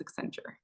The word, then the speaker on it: Accenture: They got fancy, they put Ascend with future and they got Accenture. That's how you pronounce it, Accenture. Is that why they came up with this name? Yeah, they had like a whole contest to find the name. And so, yeah, it's Accenture.